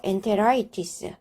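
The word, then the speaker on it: enteritis: 오기도 한다라고 이야기를 했습니다 그래서 예를 들어보게 되면 엔테로이티스 엔테로이티스 이렇게 발음을 해야 되는데 실제로는 이것이 아이와 연결 모음에 있는 오가 둘 다다 모음이기 때문에 앞에 있는 아이는 생략할 수 있는 거죠 그래서 엔테라이티스 이렇게 됩니다 장염을 뜻합니다 엔테론은 장을 뜻하고요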